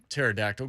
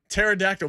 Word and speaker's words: pterodactyl: me like that man pterodactyl because the t is silent the p is silent i was i was